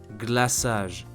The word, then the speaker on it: glaçage: We will keep the letter C to show that it belongs to the same family of words but we still need the letter C to sound S.